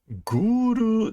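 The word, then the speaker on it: グール: Guru desu. So they're ghouls, and this is like eat corpse demon. So that is what the kanji say. Consume corpse demon, being pronounced as guru, meaning ghoul.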